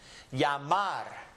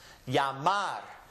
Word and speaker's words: llamar: it in a word, they pronounce it as if it was the English Y. So just pull this out and substitute it for a Y, and now you've got the correct pronunciation. Llamar.